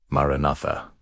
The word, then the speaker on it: Maranatha: Speak the word aloud. Maranatha. Stress the second syllable. Let it vibrate in your sternum.